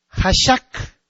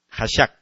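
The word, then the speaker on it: חָשַׁךְ: Ok, entonces, y viene de una raíz que es Hashak. En vez de la O y la E, le pone usted dos A's, ¿verdad? Hashak.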